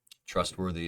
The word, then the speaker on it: trustworthy: so it is successful trustworthy is the first syllable now we have three